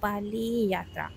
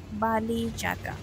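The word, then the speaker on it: Bali Jatra: मैं जा रही हूं बाली यात्रा okay S N Oriya I should pronounce it ए बाली जात्रा अगर आप लोगों को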